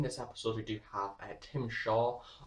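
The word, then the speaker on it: Tzim-Sha: In this episode, we do have Tim Shaw, or as I'm going to pronounce his name, because it is pronounced slightly differently in sort of alien language, is Tazam Shah of the Stenza, which I feel like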